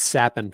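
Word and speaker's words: Capan: It's Sappin, Frankie Sappin. Oh, is that how you pronounce it?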